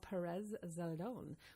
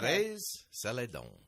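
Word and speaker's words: Pérez Zeledón: Um it's uh the the area that it's located is called Perez Zeladon, which is in southern Costa Rica. Um there is a Well, let's pronounce that correct though first. It's Perez Saledon.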